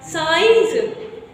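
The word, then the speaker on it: science: को क्या पढ़ते हैं साइंस को क्या पढ़ेंगे साइ साइंस ही पढ़ेंगे ओके साइलेंट इसमें क्या है क्या है साइलेंट सी आपका क्या है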